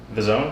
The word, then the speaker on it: DAZN: The Zone?